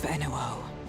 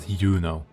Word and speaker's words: Enuo: You take care of Enuo. Enuo, okay, that's how you pronounce it. Not Yuno. Yuno.